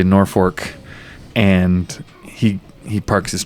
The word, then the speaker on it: Norfolk: town that we unload Norfolk Nebraska and there's the locals say Norfolk and he he Parks